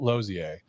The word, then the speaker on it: Losier: man the mytholog legend Mr Michael losier Michael and welcome with a great pronunciation of my name thank you you're welcome